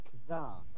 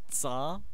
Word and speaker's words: Tsar: right, I'm the card Kazar. Yay. It's Yeah. pronounced Tsar. Did you even Russian history, bro?